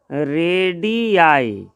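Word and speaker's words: radii: रेडियस का यह पढ़ेंगे इसका उच्चारण जरा ध्यान से देखेंगे क्या हो जाएगा रेडि आई है ना रेडि आई ये रेडि आई पढ़ेंगे यह विदेशी भाषा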